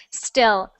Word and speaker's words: still: steel steel and still so steel um with the the two first ones you wrote there in the chat are both the same sound steel steel then there's still so we have e i e i e so we have steel and still okay good uh thank you